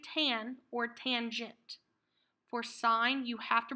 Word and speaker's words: sine: s I in e sine you do not pronounce it's in this is sine the prob the O stands for opposite oh